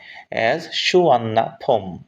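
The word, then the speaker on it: Suvarnabhumi: বিমানটি অবতরণ করল এট সুবর্ণাভূমি সুবর্ণভূমি এয়ারপোর্টে 45 পিএম মানে 4টা 55 মিনিটে বিকাল 4টা 55 তে নেম সুবর্ণভূমি সুবর্ণভমি নামটি প্রস এটি উচ্চারণ করা হয় প্রনাউন্স করা হয় সুয়ন্নাফম নেম ড্রাইভ এই নামটি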